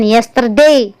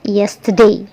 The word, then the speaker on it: yesterday: kasih tahu Jangan kesampingkan ucapkan yesterday wong itu salah ya yang benar adalah yesterday airnya tidak dibaca Agan wujud seni yesterday